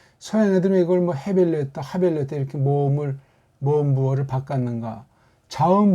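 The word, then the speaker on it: הבל: 그래서 이게 하벨, 이렇게 하벨이라고 번역해서 해야 되는데 서양 아이들이 해에 대한 감각이 없다 보니까 이거 그냥 묵음 처리해서 요거만 갖다 쓴 거예요. 그래서 아벨.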